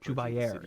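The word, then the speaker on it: Jubair: Jubayer has become obsessed with Jubayer is how you pronounce this guy's name.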